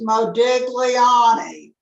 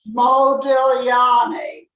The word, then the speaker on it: Modigliani: Same idea, the G, Modigliani. We don't pronounce the G.